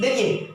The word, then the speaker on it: the: देखिए, याद रखिएगा, जब किसी भी वर्ड के पहले THE लगा हो, और उस वर्ड के प्रथम अक्षर का उच्चारण हिंदी, जी हाँ, हिंदी व्यंजन वर्ण से हो तो THE को द पढ़ेंगे, THE को द पढ़ेंगे।